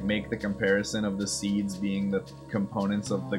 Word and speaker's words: SeeD: Is seeds pronounced like seeds or CDs? That capital D. It's definitely seeds despite the capital D looking kind of confusing when